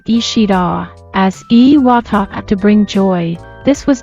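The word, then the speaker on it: 石: The character ishi is usually read as ishi in the past, however, it was reportedly pronounced as iwa. This can still be seen today in place names like Iwami, which is written as Ishimi and read as Iwami.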